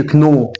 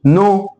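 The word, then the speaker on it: know: فما اقولش كنو، بقول نو.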